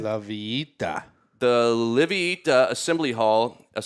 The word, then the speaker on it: La Villita: The owner of this building, the La Villita Assembly Hall, is it La Villita? La Villita? How do you say it? La Villita. James, can you pitch in? La Villita.